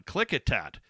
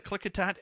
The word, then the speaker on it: Klickitat: I pronounce that right. Hold on. Klickitat Ape. Have you ever heard of the Klickitat Ape?